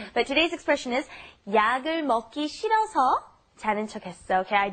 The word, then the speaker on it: 먹기: The pronunciation here, you have to be careful. You're not saying 먹기 싫어. You have to say 먹기, okay? It gets the 쌍기역 pronunciation, 쌍기역, okay?